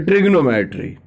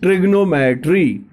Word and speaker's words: trigonometry: The word ट्रिग्नोमेट्री, you have to pronounce it as a trigonometry, as you pronouncing triangle, otherwise that too is triangle. Likewise it is trigonometry.